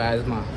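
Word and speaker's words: asthma: आता हां स्टार्टिंग एज्मा इसको एज्मा ठीक है तेरे ही लैंग्वेज में अस्थमा एज्मा है इसको इसका टी साइलेंट है और एच भी साइलेंट है।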